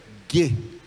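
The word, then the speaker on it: γῆ: Então, a pronúncia dessa palavra, terra, terra em grego é ge.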